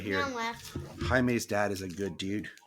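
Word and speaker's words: Jaime: it was so annoying because the guy kept pronouncing it as like jam not even Jamie he was like jam Rees I was like no it's Hae H can hear yeah it's it's it's really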